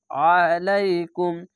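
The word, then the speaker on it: عليكم: আলাইকুম, আইনটিকে মোটা করে গলা চিপে পড়বেন।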